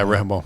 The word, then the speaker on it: Rehoboam: And then they get that Rehoboam, or I can't remember how to pronounce it. Yeah, Rehoboam.